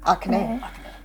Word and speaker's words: Akane: Akane.